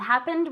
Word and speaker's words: happened: you when it happened and happened with that D sound at the end okay where were you